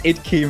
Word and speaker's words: IDK: That's got It's Idkey, mate. It's key, alright.